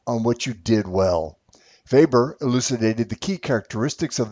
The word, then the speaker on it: Weber: It is pronounced Weber with a V sound, Max Weber.